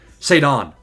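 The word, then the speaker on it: Ceddanne: It's not Sedan. It's like Saddan.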